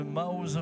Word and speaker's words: Maoz: Maoz, ça s'écrit M-A-O-Z. Ça n'a rien à voir avec mouse.